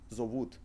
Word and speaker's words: зовут: If we would read this word, we would read зовут. However, in Russian language, if you got non-emphasized o, we pronounce it as a. Зовут.